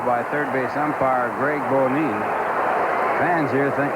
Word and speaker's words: Bonin: But Bonine, I guess the way he wants it pronounced, B-O-N-I-N. Bonine calls it a foul ball.